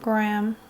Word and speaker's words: graham: so i'm using the graham cracker shade americans say like graham we say graham but graham cracker doesn't sound right graham cracker graham cracker